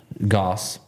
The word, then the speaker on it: Goss: I reached out to Brad Goss, because his name rhymes with sauce, he told me.